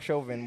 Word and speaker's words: Chauvin: Apparently it's Derek Chauvin, but I hear that.